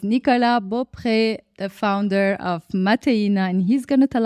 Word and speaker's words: Mateina: guest today is Nicola Bo the founder of mattin and he's going to tell us all about